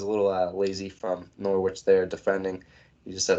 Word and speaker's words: Norwich: versus norwich liverpool three norwich zero nor witch beef norwich never pronounced the w rule number one so